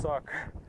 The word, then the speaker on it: Sock: can't be real like this is pronounced like soup or something like that it's like no it's pronounced like it's pronounced sock it's suck it's a very funny